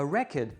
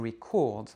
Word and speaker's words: record: Et si vous dites le verbe enregistrer, c'est "to record", "to record", accent sur la première, réduction vocalique sur la deuxième quand vous dites un enregistrement, "a record", et accent sur la deuxième, réduction vocalique sur la première quand vous dites enregistrer, "to record".